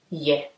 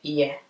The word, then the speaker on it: ye: so if i say yeah yeah yeah basically i'm not really opening my mouth i'm not opening my mouth like wide it's just a kind